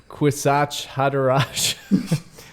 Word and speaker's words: Kwisatz Haderach: You were actually really close. You said, it sounded like you said something inappropriate in the first syllable. Kwisatz Haderach. Ooh. Haderach. Kwisatz Haderach. Yes.